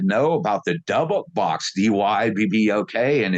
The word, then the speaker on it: Dybbuk: about the Dybbuk box, Dybbuk, and its Hebrew pronunciation. Like the Y is an I and the BB is a VV, like trabajo or trabajo in Spanish, it's Dybbuk Divik, and it's well documented